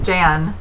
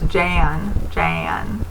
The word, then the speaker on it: Jan: I think Jan is Jan. It's like it's a short A sound, so it's Jan, like that. Jan. It's a little different from Jane. Jane is a long A.